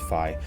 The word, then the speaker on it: Fi: Last time we met Fi, or Fi, I think it's pronounced Fi, but we met our Spirit of the Sword,